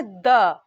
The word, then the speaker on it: the: THE এই আর্টিকেলটা যখন কোনো কনসোনেন্টের আগে বসে তখন এর উচ্চারণ হয় দ্য। ঠিক THUH এর মতো দ্য, দ্য উচ্চারণ হয়।